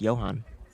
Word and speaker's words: Johan: Um Johan is German. Really? Yeah. And it's pronounced Johan.